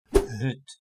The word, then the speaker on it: hut: So with the first pronunciation, the short one, the the Dutch word for hut is hut.